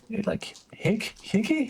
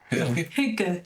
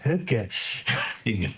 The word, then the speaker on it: Hygge: the old Lighthouse keeper had this whole like higgy? I don't know how to pronounce the style. Danish, Swedish, whatever it is for cozy. Hygge. Hygge.